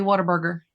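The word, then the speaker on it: Whataburger: Like I'm drinking water or what a burger like it's spelled What a burger, but around here people say water burger.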